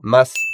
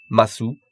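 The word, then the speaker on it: ます: Petite remarque, encore une fois, on prononce mas et pas masu. C'est comme des et pas desu.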